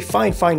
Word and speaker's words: FIFINE: see that this very fine fine microphone comes up as the second option and yes i'm saying fine fine on purpose this is how one of their sellers precisely asked me to pronounce it and this is where